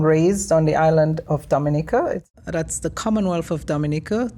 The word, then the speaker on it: Dominica: So much further down southeast than the Dominican Republic, which a lot of people confuse Dominica for.